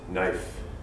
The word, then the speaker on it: knife: is kind of tricky we have many words with silent letters such as comfortable Island knife no our and I now the only way to learn how to pronounce these words is just to memorize the pronunciation unfortunately you can't set